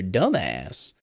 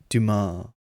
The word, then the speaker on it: Dumas: right the count of monte crisco by alexander dumbass hmm and tim robin's character goes uh it's pronounced duma uh it's about a prison break you you'd